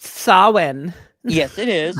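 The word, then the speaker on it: Samhain: one when Halloween was forever when they introduced Sam hay yep that was awesome it's pronounced Sinn yes it is s or as JMS said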